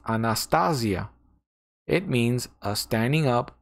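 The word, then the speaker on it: ἀνάστασις: It is pronounced Anastasia.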